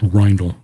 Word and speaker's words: Ryle: with the Ryle case I think it's pronounced rle that's the way he pronounces it in one of his YouTube